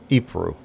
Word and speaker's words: Ypres: I'm gonna before I butcher it, I'm gonna look up the pronunciation. Ypres.